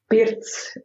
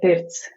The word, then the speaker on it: pirts: the differences between the sauna and the Latvian pirts much better than I will. Okay. Yes, we call it the pirts here in Latvia. How do you spell that? Pirts.